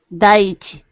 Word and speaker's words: Daiichi: And Hyde can correct me if I'm wrong here, but I think this is Daiichi. Daiichi. Say that again, please. Daiichi. Daiichi. Okay, well, see, we can both learn how to pronounce that there.